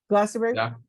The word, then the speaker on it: Glastonbury: changes at GLA how do you say Glastonbury Glastonbury he was he they put him on it